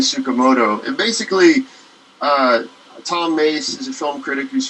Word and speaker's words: Mes: from a book by tom mace who's a film critic emmy s but it's pronounced mace uh who wrote a